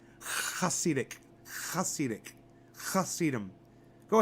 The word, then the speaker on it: Hasidic: with an M the plural huh sedum it's pronounced Hasidic I'll scenic cuss sedum go ahead try to